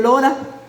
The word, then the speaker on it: Laura: en inglés Por ejemplo Cómo se dice Laura en inglés se dice Lora imaginen ustedes lorao que